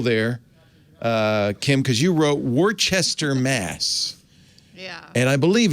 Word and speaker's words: Worcester: Save me a little trouble there, Kim, because you wrote Worcester, Mass.